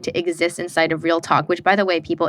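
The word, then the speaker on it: Reel Tok: to exist inside of Real Talk, which, by the way, people, it's actually so quirky. It's spelled REEL, like real, and then talk, TOK. But when I heard it, I first thought it was like real talk.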